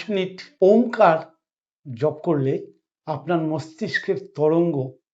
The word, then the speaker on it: ওম: ওমকার উচ্চারণ যদি সঠিক হয় শরীরে কি করে, এখানে ৩টে শব্দ আছে, অ ও ম।